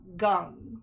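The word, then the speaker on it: Geng: the like and then g e n g and it's gung like um as in s.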